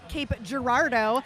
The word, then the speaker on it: Cape Girardeau: And actually, I am allowed to say Cape Girardeau because one of the skaters came up to me and told me that I am actually saying it correctly.